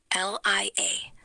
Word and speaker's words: liaison: L-I-A-I-S-O-N. Think French, like liaison.